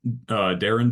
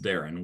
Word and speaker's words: Darian: Yeah, so it's Darren DeVries from Drake. His first name is spelled like Darian, but pronounced Darren, which is super weird.